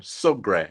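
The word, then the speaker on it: Sougrin: name is actually hyphen sogre s-o-u-g-r-i-n and it has a Accent on the end which is French so that's my name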